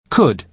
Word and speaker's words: could: lost luggage desk uses could you to carolina because he is being polite listen to the pronunciation could could you spell it c o c-o-u-l-d but the letter l is silent good now listen to